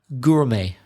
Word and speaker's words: gourmet: Where's the silent letter in gourmet? Well, it's the silent T at the end. Yeah. So can you spell it out for the listeners? They might not know that word. Is it G-O-U-R-M-E-T? Yep. Gourmet?